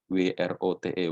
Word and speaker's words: wrote: Ya, nanti tadi bentuk lampaunya read itu tulisannya sama, tapi cara bacanya berbeda. Dan write menjadi wrote, ya. I-nya menjadi O, W-R-O-T-E, wrote.